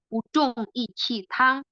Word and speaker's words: Buzhong Yiqi Tang: Buzhong Yiqi Tang ini artinya adalah B U di sini bacanya adalah Bu. Z H O N G bacanya Zhong. Y sama bacanya Q I di sini bacanya Qi, ya.